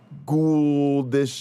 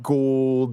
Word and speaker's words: Gould: Like I say Gould I say Gouldish instead of like gold, the way it's kind of supposed to be pronounced.